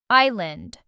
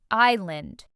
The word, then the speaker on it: island: This word has a silent s and means a piece of land surrounded by water. Island. Island.